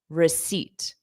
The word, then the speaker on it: receipt: pronunciation different from spelling you cannot look at a word and pronounce it based on spelling you can guess the pronunciation and you may be right but you could be totally wrong like in this case so the pronunciation is always in every case receipt receipt all right okay